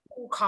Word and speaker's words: पूषा: वृषभाः स्वस्ति नः पूषा, पूखा क्योंकि वो विश्ववेदा। पूषा देवता हैं हाँ जी। लिखा हुआ। आपको वांग्मय में पूषा लिखा हुआ होगा, परंतु उसका उच्चारण पूखा होगा।